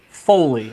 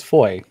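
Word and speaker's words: Fowey: making they're just as gutsy as we are foley i'm going to say it's foley stealing my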